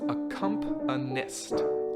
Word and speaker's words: accompanist: That word, by the way, is pronounced accompanist. Accompanist.